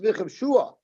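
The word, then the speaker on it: וְכִבְשֻׁהָ: It's pronounced v'chivshua, but it's written without the vav.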